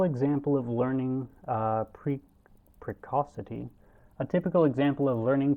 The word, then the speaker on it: precocity: typical example of learning precocity in conf is confirmed hang on i don't look up how you say that uh precacity precausity uh buh i don't want those precocity okay i'm saying it right a typical example